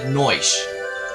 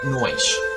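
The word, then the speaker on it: Noishe: Fine, do whatever you want, Noish. Yes, it is it is said Noish. Yeah, it's said Noish.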